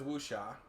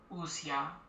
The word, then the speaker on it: Wuxia: So for people like that, you can just say wuxia. Say the first syllable like wu, and then the last syllable like sha. So this guy says wuxia.